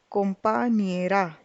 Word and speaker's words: compañera: The pronunciation becomes compañero, compañero, compañera.